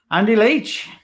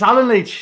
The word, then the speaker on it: Alan Leach: chat show let's welcome andy leach whoa you guys name wrong already look i did it's alan leech sorry connie yeah there